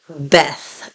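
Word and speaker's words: בית: English they're usually called Beth something so like Beth Shalom or Beth Or and it's really in modern Hebrew in modern Hebrew they would be pronounced bit Shalom Bit O okay okay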